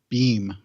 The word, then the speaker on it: Bem: So the episodes I looked at were in season 2, and I'll start off with Beam, or Bem. Bem, I think, is how they pronounced it.